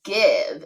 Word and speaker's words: give: That's why there's an E here to support that V. It does not work as a magic E in this word. So this word is give.